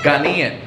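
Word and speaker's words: Ghanaian: are uh the child of uh Ganan immigrants Ghana is that how how do you say it ghanian ghanian okay great that's important for this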